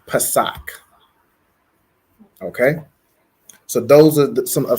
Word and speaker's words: Pesach: So Passover is Pesach. So it's going to be P-A-S-A-C-H. And it's pronounced Pesach.